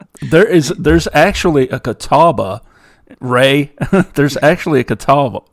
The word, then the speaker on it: Catawba: because i was there is there's actually a catawba ray there's actually a catal catawba and it's spelled exactly the way you spelt it here